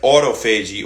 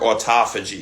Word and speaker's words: autophagy: We're going to talk about the effects of exercise and intermittent fasting on the brain and autoagi or autophagy you could also pronounce it as.